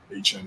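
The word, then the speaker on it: Achane: And the big thing coming out of this game is I always say his name wrong. Is it A-Chain? A-Chain, yep.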